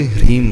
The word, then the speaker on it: ह्रीम: ह्रीम शब्द का उच्चारण जो बहुत प्रॉपर करेगा, उस अक्षर के उच्चारण में भी एनर्जी जनरेट होती है, क्योंकि हमारी टंग जो है, जब ह, र, ई और म 4 उसमें अक्षर हैं, उसको मिलकर के ह्रीम बना है।